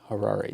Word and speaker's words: Harare: And the capital of Zimbabwe is Harare. Harrari. Did you look up the pronunciation?